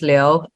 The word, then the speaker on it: Liu: I saying it correctly yeah it's Leo Leo all right all right l-i-u it's already in the